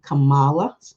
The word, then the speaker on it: Kamala: Kamala, pronounce her name right, Kamala Harris as his running mate.